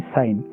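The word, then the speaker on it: sign: तो first one इज साइन, तो साइन में जी साइलेंट है तो आप इसको अंडरलाइन कर दोगे।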